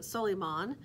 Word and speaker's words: Solomon: You'll see Chapman and Cheney with a young man who is clearly Arab, and his name is Solomon. He goes by, he pronounces it Soliman, and he is from Saudi Arabia.